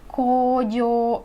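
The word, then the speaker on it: 工場: Lalu nomor 7 ada pabrik, kojo ya, bukan kojo meskipun ini adalah huruf u, lagi-lagi dibacanya panjang, kojo ya.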